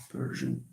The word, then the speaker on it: Persian: Persian Persian uh Persian no no Persian is not like that uh sh Persian it's it's something like this Persian so you have something